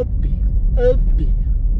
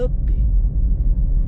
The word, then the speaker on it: up!: o vendedor fala, não, tem que ser assim, ó, Up, ó, olha como se fala, Up.